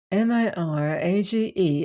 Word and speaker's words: mirage: M-I-R-A-G-E is pronounced mirage, said Valancy shortly, picking up her tea and her beans.